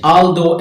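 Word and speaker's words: although: आल दो AL THOUGH, OU आते हैं, आखिर में GH आता है, मगर GH बिकम साइलेंट, तो ये साइलेंट हो जाता है।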